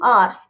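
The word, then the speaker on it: hour: ठीक है, ओ यू आर, एच हमारा साइलेंट है, क्यों?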